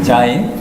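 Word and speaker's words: ז: 그런데 sein, 요거는 이렇게 쓰시는 분도 있고, 근데 이렇게 자인 그러면은 자인은 영어로 말하자면은 그 Z 발음에 비슷한데 우리말로 굳이 하자면은 지읒 발음 이렇게 보시면 되겠습니다.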